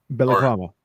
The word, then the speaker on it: balaclava: Balaclava.